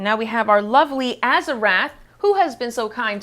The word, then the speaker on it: Azarath: It's not Azarath. We've been saying it wrong for like 5 episodes.